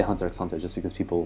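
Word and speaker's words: Hunter × Hunter: Because Hunter X Hunter is pronounced Hunter Hunter, but I still say Hunter X Hunter just because people like recognize it more often.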